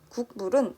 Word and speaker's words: 국물: 국물은 빠르게 발음을 하면 앞서 국민처럼 궁으로 발음 나고 있어요.